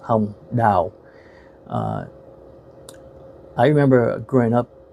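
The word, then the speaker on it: Hồng Đào: acting of uh a uh female actress called H da her name is spelled h o n g space d a o and in Vietnamese that's pronounced H da uh I remember growing up watching her um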